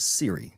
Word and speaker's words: Cirre: last name yeah so my last name is pronounced Siri so just like the iPhone I apologize for anyone's iPhone that I just uh kickstarted and initiated right there.